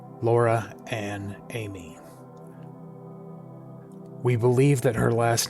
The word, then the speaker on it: Aime: Laura Ann Amie. We believe that her last name is pronounced Amie, and it comes from a French word that means beloved or loved one.